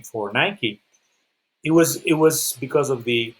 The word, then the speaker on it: Nike: Nike, actually, it is pronounced Nike.